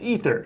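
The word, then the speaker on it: Aether: it's out there it's it's apparently in the world of magic pronounced ether yeah that's why I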